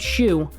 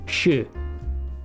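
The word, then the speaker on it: しゅ: Don't pronounce it shoe. It's shu. Okay, there's a subtle difference there in the ways that U is pronounced.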